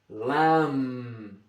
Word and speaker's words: lamb: M Mike lamb. The B on the end of lamb is silent.